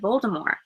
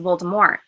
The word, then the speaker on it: Voldemort: or four audio books he pronounces it Voldemort and that then switches to Voldemort and I was thinking that maybe that's how it's supposed to be pronounced and then he switches because everybody adds the te um but then I